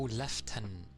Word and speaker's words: lieutenant: Where is the F or in lieutenant? Many don't pronounce it as I do. How the hell do people say it? Oh, left tenant.